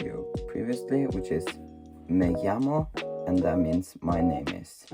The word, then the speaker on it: llamo: And when there are double L's, it's pronounced differently. It's don't pronounce it. So if you write my name is in Spanish, it's going to be me llamo. It's kind of pronounced like a J actually.